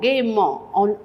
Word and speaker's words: gaiement: Gaiement, gaiement. Quand on prononce, on dit gaiement, mais il y a un E tout d'abord, avant le ment, gaiement.